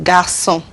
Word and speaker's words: garçon: It's pronounced like a S. We said garçon, boy, français, un beau garçon.